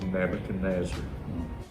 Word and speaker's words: Nebuchadnezzar: Now this man, he has one name, but it's 5 syllables, which is a lot for one man's name. Sure. And that man's name is Nebuchadnezzar.